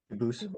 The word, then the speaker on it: Dubus: I know a family with that same exact spelling in America, and they do pronounce it dubis, but you said you pronounce it dubus as the original dubus. as the original French.